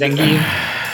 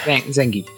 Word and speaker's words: Zangief: Oh, That is, am I pronouncing that correct, Mr. Zangief? Yes, you did. Zangief. Zangief.